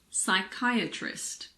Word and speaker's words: psychiatrist: the letter P well we don't pronounce p if it comes at the beginning of a word before an s for example pseudo science psychiatrist psychic psychology it's also silent in front